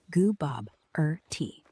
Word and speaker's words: Gooboberti: It's Gooboberti. Goo as in Goo Goo Baby, Bob as in the name, as in question, tea as in the drink with jam and bread.